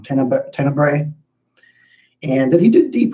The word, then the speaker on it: Tenebrae: Phenomenon is interesting, and Tenebrae, or I always pronounce that wrong, Tenebrae.